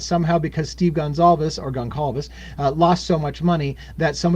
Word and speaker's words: Goncalves: Steve Goncalves, or Gonçalves as some people call it. Again, I think Portuguese pronounces Goncalves, but everybody else seems to call it Gonçalves, and so everybody busts my nuts no matter how I say it.